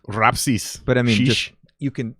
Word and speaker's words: Rapsys: how you pronounce it rhapsees no well okay so it's lithuanian is it so i didn't know this my whole life uh somebody else told me it's rapsis but i mean you